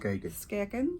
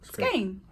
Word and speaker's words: Skagen: We've been pronouncing it. Skaggen. Skagan. Skean. But in the talk yesterday, the lady said it is pronounced skain.